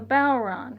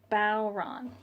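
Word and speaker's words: bodhrán: So that's the Balron. Remember, Balron.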